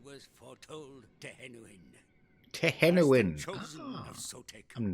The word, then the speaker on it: Sotek: Other children of Sotek hold Sotek, out yeah, that's how you pronounce that, mate.